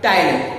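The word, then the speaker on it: ptyalin: जो लार है मतलब जो सलाइवा है, सलाइवा में एक एंजाइम निकलता है, टाइलिन बोलते हैं। क्या? टाइलिन। पी इसमें साइलेंट रहेगा। टाइलिन।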